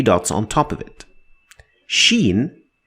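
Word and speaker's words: شين: on top of it sheen is to be compared to the combination of sh in english sh not ch like the sound at the beginning of the word sharp sharp so sharp sound this is the she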